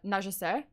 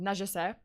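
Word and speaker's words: Nungesser: or charles i guess charles uh najese i think that's how we pronounce it najisai another experienced pilot often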